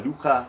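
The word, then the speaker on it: لغة: That second syllable starts with a Ghain letter, which we find with a French R, start with arwar, and fine-tune it from there.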